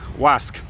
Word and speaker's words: Łask: l a s k the l looks like an l with a line through it so it's pronounced like an english w whoa uh wasc and uh so which